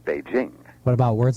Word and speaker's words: Beijing: news readers is is a kind of phony French soft J sound in the name of the capital for the capital of of People's Republic of China they say Beijing and that sound doesn't really exist in Chinese and and we should we should shouldn't really say it that way in Engish it's just a straight J Beijing what about words like